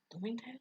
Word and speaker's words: Bloomingdale's: Rhymes with looming tales. Bloomingdale's? It's Bloomingdale's.